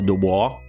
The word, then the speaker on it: Dubois: That's Tom Dubois, isn't it? Dubo, whatever the he pronounces it. That's like a French name. Supposed to be Dubois. Um, he did all the